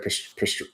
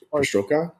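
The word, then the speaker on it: perestroika: Uh and I think you actually talked about this with the glass nod the uh am I pronouncing this right? Pastroka aristoka there you go.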